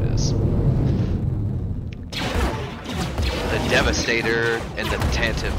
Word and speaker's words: Tantive: The Devastator and the Tantive Core, or Tantive. I always pronounce it Tantive.